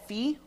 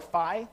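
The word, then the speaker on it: phi: proportions there's something called Fe or fi depending on how you want to pronounce it uh but it's called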